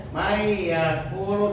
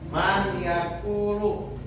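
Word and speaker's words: من يأكل: Jadi dibacanya may yaulu. Jangan man yaakulu. Isi man yaakulu tapi may yaquulu dan min nikmatin ya.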